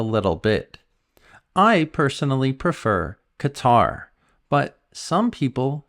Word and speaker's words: Qatar: and Ecuador the system I don't know why the pronunciation is so strange and so different sometimes but I think Qatar flows better so you can choose what you prefer 12 people on the